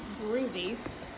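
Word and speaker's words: Goovi: So this is Groovy, my robot vacuum that I purchased on Amazon.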